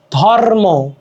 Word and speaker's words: ধর্ম: আসলে রেফের উচ্চারণ কেমন রে থাকলে রধনি আগে উচ্চারিত হয় যেমন ধর্ম ধর্ম ম এর উপরে রে আছে কিন্তু উচ্চারণ কিভাবে হচ্ছে রেপটা আগে হচ্ছে ধরম ধর্ম ঠিক আছে যুক্ত ব্যঞ্জন